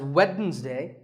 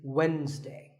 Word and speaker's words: Wednesday: the week it's Wednesday the D is silent sometimes it's pronounced as Wednesday but the proper way to say it is Wednesday what about this word